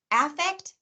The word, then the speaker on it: affect: So a lot of people are going to say it's the vowel, but often in conversation, the first vowel in those two words gets reduced to a schwa, to that lazy sound.